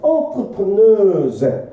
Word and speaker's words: entrepreneur: entrepreneurs 기업가야. 이 단어 알아도 entrepreneurs야. 발음 이렇게 해줘야 돼요. 궁금하면 진짜 쳐봐 네이버에. 발음 이렇게 나와요. 불어에서 온 발음이에요. entrepreneur예요. 기업가들은 succeed 성공을 합니다.